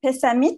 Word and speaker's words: Pessamit: un attaché à canapé à fontaine innus de pessamit c'est ça on le prononce comme ça elle est prête à artistes